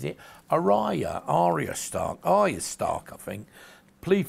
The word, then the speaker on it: Arya: Maisie Williams there as our ass up matter pronounces it Araya Arya Stark is star coughing please forgive me I